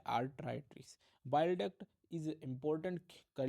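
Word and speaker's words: arteritis: में होता है आर्थराइटिस डेफिनेशन और थोड़ा प्रोनाउंस एशन डिफरेंस है जब नहीं बोला जा रहा है तो धरती को सोचो धरती इज अर्थ तो अर्थराइटिस बोल दिया आपने तो वो इंफ्लेमेशन ऑफ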